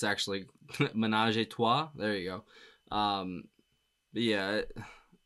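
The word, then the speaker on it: ménage à trois: it said on Wiki that it's about I butcher the the what it's actually Manaj Tu there you go um yeah what a song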